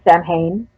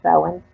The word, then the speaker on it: Samhain: like so in some people like to say Samhain but it's actually pronounced seven it's more of a freeing experience as far